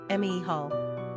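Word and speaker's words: Mícheál: Quick facts on Michael Gender - Boy Origin - Irish Number of syllables - 2 Ranking popularity - 682 Pronunciation - mehal Simple meaning - who is like God Characteristics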